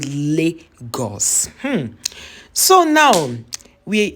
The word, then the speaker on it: Lagos: had you know dragged people why would they pronounce Lagos like that that it is called Legos go hm so now we we somebody said